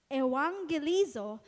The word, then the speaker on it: evangelizo: ko pa po talaga yan Sabi ko anong pronunciation nito evangelizo which means to announce good news the verb